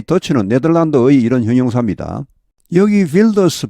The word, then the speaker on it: Wilders: 여기 Wilders 발음이 원래 이 네덜란드 말과 독일어는 같은 말에서 나왔습니다. 그래서 이 독일어에서는 W 하면 V로 발음 나죠. Wilders 이렇게 됩니다.